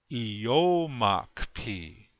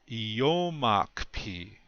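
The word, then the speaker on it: iyómakiphi: and that word is eomach p you can hear the accent is still on the second syllable yomak p and look at the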